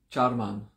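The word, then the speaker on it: चर्मन्: and this week skin charman c a r m a n charmander a in sanskrit is pronounced cha like a soft tea at the beginning i woke up hours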